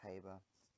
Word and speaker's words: Haber: to my a-level teacher you pronounce that is haver technically named after Fritz harbour I've just not kick